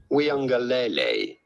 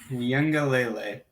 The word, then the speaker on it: Uiagalelei: It's not obvious when you just look at the spelling, right? But it's pretty straightforward once you know. DJ Uiagalelei. Uiagalelei.